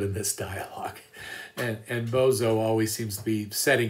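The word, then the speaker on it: Boso: name bozo b-o-s-o but i like to pronounce it like bozo because this guy really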